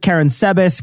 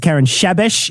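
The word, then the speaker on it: Karánsebes: Okay, so there's different ways to pronounce it. Karen Sebes, Karen Shebesh is another way I heard with the shach going on there, but I'm not going to do the shach. Doesn't seem right.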